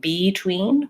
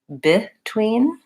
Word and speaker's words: between: don't say this e we don't say beetween we actually say between and that's because this vowel becomes an unstressed vowel because it's an unstressed syllable so oftentimes letter e